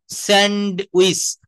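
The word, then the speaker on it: sandwich: স্যান্ড, স্যান্ড, স্যান্ডউইচ, আমরা ডটা বলি কিন্তু এখানে ডি বা ড, এটা হচ্ছে সাইলেন্ট লেটার, সবাই একটু মনে রাখবো।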